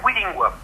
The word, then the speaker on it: Weelingua: Alors, le premier le premier jeu, on prononce comment ? Alors, la maison d'édition s'appelle Willing D'accord.